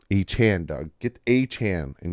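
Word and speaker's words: Achane: this is Devon uh I have to like consciously say his name I want to call him aain I like the name aain but it's uh a Chan a Chan Doug get a Chan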